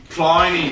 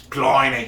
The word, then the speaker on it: Pliny: Let's try this Pliny the Elder. Dun, dun, dun. Speaking of mispronouncing, there's no way it's Pliny. It's You couch. said it like you were Steve Irwin. It's couch. Pliny.